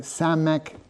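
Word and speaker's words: סמך: 50 and samk which is 60 60. So samk sounds like 60. Yeah it begins with an s.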